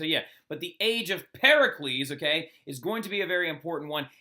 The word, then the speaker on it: Pericles: name incorrectly all right his name is Pericles all right not Pericles all right so if you roll up into my class and be saying parles it's G to bother